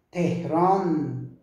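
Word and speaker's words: تهران: Só que No Irã, a gente fala nun para isso também. Às vezes o O se transforma em um, né? Irun, Irun, Tehran, Tehrun, Tehran, vira Tehrun.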